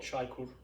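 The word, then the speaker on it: Çaykur: No, that's how you pronounce chai? Oh, well, that's the brand. Yeah, what's the... It's called Chaikur. Chaikur? Yeah, it's just a brand. Chaikur tea.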